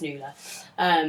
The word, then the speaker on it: Nuala: she thought it was she thought it was in a wallet pronounced a wallet but actually it's newless which is an Irish name it's partly it's like